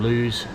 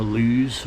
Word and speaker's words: Lewes: And reached all the way up to Lewes, or Lewis, some people pronounce it.